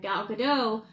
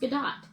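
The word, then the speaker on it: Gadot: stances of the lead actresses Rachel zler and gadoo or excuse me Gat have added to the film's controversies um and her name is pronounced gdat gdot's public support for Israel and dear's pro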